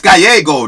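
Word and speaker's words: Gallego: win that seat and it's GGO not Gallo what's wrong with you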